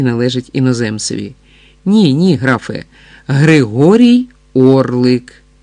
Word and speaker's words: Григорій Орлик: Григор Орлік? Гість старанно по складах вимовляв це ім'я, як і належить іноземцеві. Ні-ні, графе, Григорій Орлик. Григорій Орлик, старанно повторив гість, для правдоподібності все-таки зробивши наголос на останньому складі прізвища.